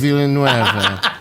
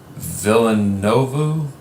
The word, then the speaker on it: Villeneuve: So Magali Villeneuve. It is French, so the French would be able to say that better.